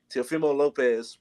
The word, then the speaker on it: Teofimo Lopez: Teofimo Lopez.